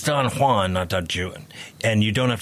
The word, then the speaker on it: Don Juan: don't have to go that far but it's Don Juan notan and you don't have to go you